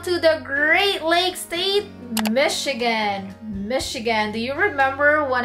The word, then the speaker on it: Michigan: So I heard it very often that people actually say it as Michigan, just like Chicago. So it's actually pronounced as Michigan. Michigan, not Michigan, okay?